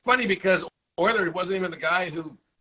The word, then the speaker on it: Euler: And it's Euler. And people sometimes pronounce it Euler, but it means owl in German.